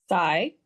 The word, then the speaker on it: Psy: Psy?